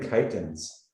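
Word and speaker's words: chitons: can see what the chitins are? They're these weird little sea creatures. Chitins. I'm pretty sure I'm pronouncing that correctly, right? It's not chicken. Yeah, it has the IPA there, chitins.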